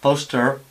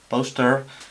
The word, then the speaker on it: poster: O que se puede decir, por ejemplo, en inglés americano, poster, poster, sí se diría, la R se pronunciaría, pero en británico no, es poster.